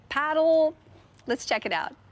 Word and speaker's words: padel: And no one can quite figure out how to pronounce it. Padell, paddle.